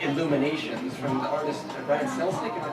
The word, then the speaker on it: Brian Selznick: Karen edited it with illustrations, more like illuminations, from the artist Brian Selznick, am I pronouncing his name right?